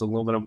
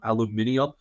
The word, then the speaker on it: aluminium: also shout out to all you British people who pronounce aluminum aluminium I think it is the funniest thing of all time that's like one of the good things to come out of Britain or come out of England in all of history but it is absolutely hysterical I'm going to stick to the American pronunciation today but we did